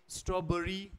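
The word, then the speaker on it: strawberry: इट is vegetables Wednesday स्ट्रॉबरी बरी नॉट बेरी constantly इसको हम कांस्टेंटली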